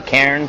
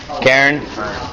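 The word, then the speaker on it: cairn: a right to care I think that you pronounce it correctly Karen CAIR n Karen right so according to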